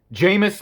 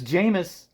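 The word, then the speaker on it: Jamis: years and then it was jamas because it's jamus in the original sci-fi miniseries that made me a fan of Dune in the first place and then I thought maybe just a couple people pronounced it differently in part one and then I finally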